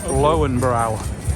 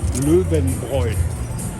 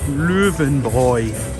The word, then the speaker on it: Löwenbräu: Most people would say Lowenbrau. Okay. And the correct pronunciation is? Löwenbräu. Did you get that, kids? Löwenbräu. Yeah, perfect. Spoken like a local.